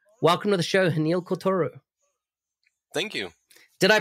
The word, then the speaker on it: Haniel Croitoru: you can find him on twitter at h welcome to the show hanil kotoru thank you did i pronounce everything right you did wow very good